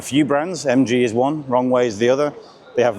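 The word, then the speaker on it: Roewe: You might see it as Roe, that's how it's spelled, but the Chinese pronunciation is Rongwei. Of course, SAIC have a few brands. MG is one, Rongwei is the other.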